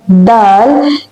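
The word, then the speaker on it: د: Now the pronunciation, the sound of the letter Dal is a D-like sound, but softer than that.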